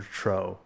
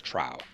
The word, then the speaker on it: Trow: the only version I've heard is Trow. Um, yeah, I have seen instances of people, you know, fans or whatnot calling them Tro, but I've always called them Trow.